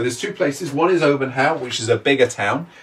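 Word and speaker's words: Olbernhau: One is Obernhau, which is a bigger town. Obernhau is spelled O-L-B-E-R-N-H-A-U.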